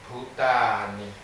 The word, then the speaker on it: Bhutani: Real plural, Bhutani. По-настоящему это произносится как бутани, потому что множественное число In Sanskrit.